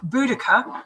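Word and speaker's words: Boudica: Um and I would suggest anyone who doesn't know about Bodhica to or or Buudaca as she's now uh pronounced I would just suggest everyone go and check her out.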